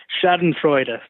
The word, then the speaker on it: Schadenfreude: So we had the pleasure of talking to Josh Newton, guitarist of Shiner, whose latest record, I'm going to probably mispronounce this, Schadenfreude? Schadenfreude.